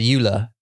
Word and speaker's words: Ula: isn't it yeah right but you said it's Euler u-l-a which actually is like